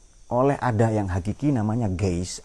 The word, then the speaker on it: Geist: Ini semua yang ada ini diatur oleh ada yang hakiki namanya Geist, atau tulisannya ya, bacanya dalam bahasa Jerman Geist, oleh roh itu.